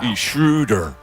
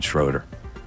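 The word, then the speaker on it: Schröder: and it's the uh uml is what they call it shrewder it's shrew a lot of people make the mistake I'm going schroer cuz that's how Americans pronounce it hand up on that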